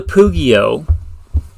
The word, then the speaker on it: Pugio: The Pugio. Now, if you don't know the Pugio, or Pugio, if I want to say it like an Italian, or I guess an ancient Roman.